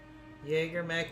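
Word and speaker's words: JagerMech: The Jaegermech. Okay? It's probably good for my German heritage that I pronounce it correctly, too. Ready for orders. I know. I know. Jaegermech, Jaegermech, Jaegermech, Jaegermech.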